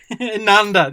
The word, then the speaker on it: Inanda: Inanda, there we are, Inanda. Gosh, my pronunciation.